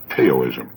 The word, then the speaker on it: Taoism: Now, that's spelled Taoism and often mispronounced Taoism.